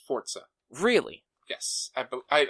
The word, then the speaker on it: Forza: Screen Rant it's when when referring to Forza it's Forza and not Forza okay this was from